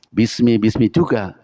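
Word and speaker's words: بسم: Kalau pengucapan kan sama aja. Bismi juga, tapi penulisan untuk bismillah tidak pakai alif, bismi langsung, tapi untuk pada ikra tetap ada alifnya. Iqra bismi rabbika, bi ismi, alifnya tidak terbaca karena alif wasol.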